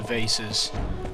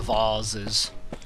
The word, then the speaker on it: vase: No, that was the room with all the vases. Or the vases. How are you going to pronounce that word? I always say vase. But apparently it's vase is proper.